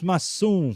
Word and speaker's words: Massum: E para a gente finalizar as apresentações, Massum. Falei certo o nome, né? Massum. Falou certo.